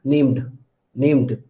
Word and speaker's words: named: So when after m sound ed occurs, it becomes d. So how will you pronounce it? Named, named.